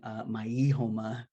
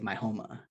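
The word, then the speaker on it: Maijoma: So instead of saying, because it's spelled M-A-I-J-O-M-A. So instead of saying Maihoma, you say Maihoma, which is not Spanish, right?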